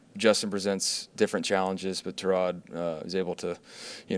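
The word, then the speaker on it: Tyrod: Correctly pronounced Terrod, but he doesn't correct people.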